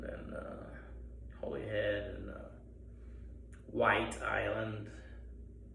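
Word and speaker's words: Wight: I see it's the Ireland and uh Holyhead and uh White Island. It's spelled w h i g h t. It's like the Barrow Whites, you know, the spooks.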